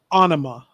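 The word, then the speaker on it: Ænima: quite a lot and it is anema if i'm saying that right it's called anima anime okay right that makes it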